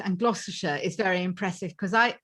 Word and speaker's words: Gloucestershire: it right she's in cheltenham correct which is gloucestershire gloucestershire correct wow well done girl thank you